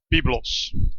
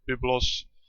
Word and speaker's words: Byblos: It's called Byblos, or Byblos.